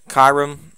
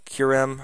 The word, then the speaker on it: Kyurem: pronounce it, Zekrom, Reshiram, Kyurem, or Kyurem, however you pronounce it, Genesect, Keldeo, Meloetta, Xerneas, Yveltal, Zygarde, Diancie, Hoopa, and Volcanion.